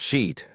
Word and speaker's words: sheet: presentation was great, but it's pronounced sheet, not, you know." I stood there for a few seconds, replaying every sentence in my head. Then I realized I had spent 15 minutes enthusiastically talking about my shit, not my spreadsheet. So what's the difference? Sheet has a long E sound. Stretch it. A sheet. But shit has a short I sound. Much shorter. One tiny vowel. Completely different meaning.